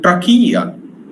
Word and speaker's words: trachea: The fifth is a trachea. Again, this CH means k.